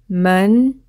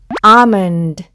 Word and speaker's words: almond: 그리고 드, 앞에서부터 읽어보면 almond, almond 라고 읽으시면 됩니다. 자, 그럼 이제 무슨 단어인지 아시겠나요? 네, 아몬드입니다. L이 묵음이어서 알몬드가 아니라 아몬드죠. 그리고 우리말로는 알파벳 O는 우리는 O로 표기하기 때문에 우리는 아몬드라고 말을 하긴 하죠.